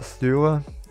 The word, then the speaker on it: Støre: Das ist die Arbeiterpartei, und die wird geleitet von Jonas Gahr Støre. Ist so ein durchgestrichenes O, ich glaube, das wird Ö ausgesprochen.